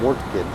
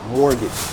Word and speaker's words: mortgage: Okay, mortgage. Mortgage. Never, never say mortgage. Is definitely wrong. It's always mortgage.